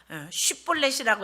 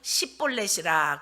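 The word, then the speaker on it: שִׁבֹּלֶת: 쉽볼렛이라고 해라 그러는데 발음을 못하고 십볼렛이라 그러면 쳐 죽였다.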